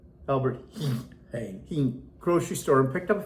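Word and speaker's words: Albert Heijn: Albert Hine. Yeah, doesn't look like Hine. It's H E J. Yeah, it's it's Albert H. Albert Hing grocery store and picked up a few more things.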